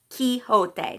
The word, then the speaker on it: Quixote: call himself Don Quixote huh Quixote that's how it's pronounced Wiz as had been